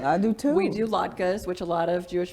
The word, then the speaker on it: latke: We do latkes, which a lot of Jewish families do. What is it? Latkes, they're potato pancakes. Have you never Potato heard of a latke?